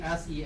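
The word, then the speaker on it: Xie: not English it's Chinese the closest pronunciation I can find for x i e in English would be s e a r you can call me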